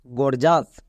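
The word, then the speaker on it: gorgeous: ই ও ইউ এস একত্রে আছে তাই এর উচ্চারণ হচ্ছে আস যেমন জি ও আর জি গর্জ ই ও ইউ এস আস গর্জাস next T আই am time E ও ইউ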